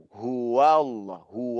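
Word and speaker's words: هو الله: ini bacanya ultu Wah jangan di baca Qulhu allohu ya kebanyakan nih para pemula dalam baca Quran members menebalkan huruf Waw Uluh Wow loh tapi yang benar adalah full huwallahu Ahad Allah Hu Subhanallah bukan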